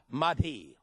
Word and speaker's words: Mahdi: prepare for the arrival of the prophet imam mahdi and you think you folks may want to take some notes and write this down that is spelled m-a-h-d-i mighty the quran you all know was written by